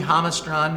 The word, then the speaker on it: Jamastran: So this comes from the Jamastran Valley, where the J is silent. Why are they going to these silent letters, these I guys?